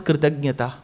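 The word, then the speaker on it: कृतज्ञ: So there is a small difference in the subtle difference in the pronunciation. Kritagnya is grateful. Kritaghna is ungrateful.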